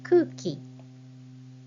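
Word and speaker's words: 空気: The Japanese word for air is kuki. Kuki. Kuki, double U here. So you write it with hiragana U. And when you read it, it sounds like kuki, not kuuki.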